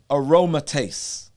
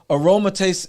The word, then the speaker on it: aromatase: which is the production of this enzyme called aromatase right aromatase or r r a r phonetically right here a-r-o-m-a-t-a-s-e aromatase right it's an